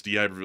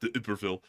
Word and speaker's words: D'Iberville: And also, let's see, D'Iberville is D'Iberville, it's not D'Iberville.